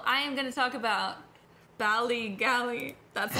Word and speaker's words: Ballygally: So, I am gonna talk about Ballygally. That's not how you pronounce it.